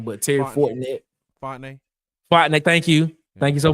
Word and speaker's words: Fontenay: Shout out to Terry Fortnell, GM at for the Atlanta Falcons. I know I'm saying his last name wrong, but Terry Fortnell. Fontenay.